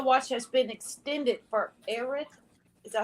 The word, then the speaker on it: Erath: And tornado watch has been extended for Erath. Is that how you say it? ERATH, Texas, till 10.